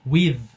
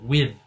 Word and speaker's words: with: se preocupar tanto com a pronúncia do TH, que é um pouquinho mais difícil, a gente vai ter aí vídeos sobre isso, por exemplo, with, você tem que botar aqui a língua entre os dentes, with.